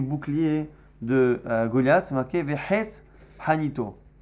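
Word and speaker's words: וחץ: Ktiv, quand c'est marqué Vehes Hanito, c'est marqué au sujet du bouclier de Goliath, c'est marqué Vehes Hanito. Hes, normalement, c'est une flèche, mais nous on le prononce Vehes, le bois justement de sa lance, pas de son bouclier, de sa lance, du javelot.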